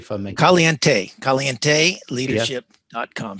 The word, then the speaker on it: caliente: it correctly for me caliente caliente leadership dot com so the kind of the last e is kind of an a well that's my pronunciation